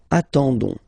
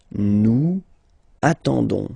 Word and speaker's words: attendons: ending for nous, so O-N-S, okay, you don't pronounce the S, so you get only this on sound, okay, attendons, nous attendons, so we'll make the link between the two,